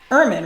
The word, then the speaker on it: Ehrman: Your name is Ehrman, right? That's right. I don't like to murder names. So I have it right here written. But we were having difficulty trying to The H is silent.